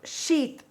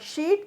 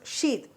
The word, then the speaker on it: sheath: Such a condition we use a word as starch sheath, not sheet, you have to pronounce it as starch sheath.